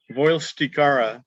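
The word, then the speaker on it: Vuylstekeara: And I can't how do you pronounce this VUYL genus? Voilsticara, but Okay.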